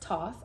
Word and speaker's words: Thoth: Thoth, and pronounced Thoth, also known as Tehuti, is the ancient Egyptian ibis-headed god of writing, divine magic, and the moon.